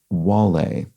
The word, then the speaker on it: Wale: I apologize, but they're pointing out that for Two Down, the rapper's name, Wale, is pronounced more like Wale. So sorry about that. I think I mispronounced it whale because I was just